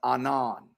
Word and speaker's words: Anan: right here the Hebrew the transliteration is Anan pronounced Anon you're not sharing your